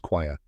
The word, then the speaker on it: choir: Now the spelling tip, it's spelled C-H-O-I-R. But don't let the ch fool you, it's pronounced quire.